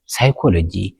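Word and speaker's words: psychology: ወይ ድማ ኣይድመፅን ማለት እዩ ንኣብነት ሲዶ ሳይነስ ሳይኮሎጂ ሳይካትሪክ ሳም ዝብሉ ቃላት ማለት እዩ ፒ ሳይለንት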